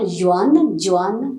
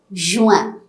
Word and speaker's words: Juin: June is Juin. Again, you are getting a nasal pronunciation here. It's not Juan, no, Juin.